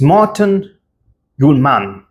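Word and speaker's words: Morten Hjulmand: It's Morten Gjulmand. That's how you say his name. Very Danish name. Morten Gjulmand.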